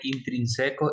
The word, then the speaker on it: intrínsecos: Bueno, en la contaminación biótica depende de factores intrínsecos y extrínsecos. A ver, a Factores ver, a ver, a intrínsecos. ver, a ver, a ver, a ver. Se pronuncia acento en la I. Intrínsecos y extrínsecos.